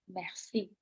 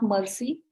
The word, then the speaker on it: merci: Merci, merci. It's not mercy like English, it is merci.